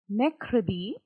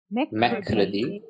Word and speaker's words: mercredi: So here this Mercredi. R is not being pronounced, guys. Okay, it's not mercredi. Please make sure it's the softer R sound with the second R, not the first one.